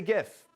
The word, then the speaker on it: GIF: frequently shared looping videos called GIF with a hard G or GIF with a soft G. What do you call them? How do you say it? I say GIF because that's the right way.